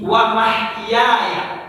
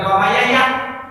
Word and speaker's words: wa mahyaya: an-nusuk ya, wa nusuki wa mahyaya bukan wa mayaya, wa mahyaya, ada orang bacanya wa